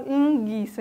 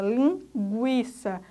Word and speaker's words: linguiça: A gente não fala linguiça, a gente fala linguiça. Aí estão sendo pronunciados tanto G quanto U.